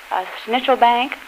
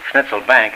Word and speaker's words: Schnitzelbank: uh conduct some singing schnitzel bank or um I used to sing schnitzel schnitzel bank it's pronounced oh pardon me schnitzel bank is a kind of an American uh pronunciation it's Schnitzelbank actually you